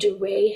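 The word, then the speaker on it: Duret: They're called duray hemorrhages. How do you spell that?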